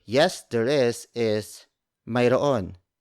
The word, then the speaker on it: Mayroon: The Tagalog way of saying yes, there is Mayroon. It's spelled as Mayroon. Mayroon.